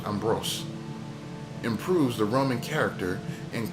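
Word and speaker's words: Ambroise: Ambrose, I guess, improves I keep saying Amber Rose. No, not Amber. Ambrose improves the Roman character and calls the final product DAT. Between 1775 and 1790, Francois Ambrose and Ferman and given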